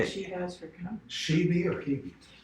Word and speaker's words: Hebe: Shebe or Hebe? It's Hebe, Hebe. Okay. And of course, I'm sure the Greeks pronounce it differently.